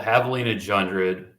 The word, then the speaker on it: Javelina Jundred: is so it's called Havalina jred a viiper puts it on and the Jay is silent and Havalina so that's